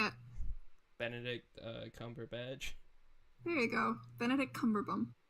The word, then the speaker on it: Benedict Cumberbatch: Benedict Cumberbatch.